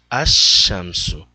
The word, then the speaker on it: الشمس: falei para vocês alexanderson o sol é pronunciado na verdade ashansú a Chanson nenhuma alteração